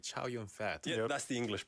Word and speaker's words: Chow Yun-fat: If you hear a Chinese person say his name, you wouldn't say, "Oh, that sounds like Ju Yun-bar." Exactly. It's you know. Yeah. They go like Ju Yun-fa or something like that.